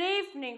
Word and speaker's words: evening: Từ này chúng ta không đọc là evening mà nó sẽ chỉ có hai âm tiết thôi, là eve và ning.